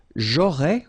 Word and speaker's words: aurais: J'aurais, remember, final S not pronounced.